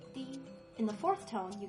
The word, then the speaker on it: 地: Then the plus e makes di.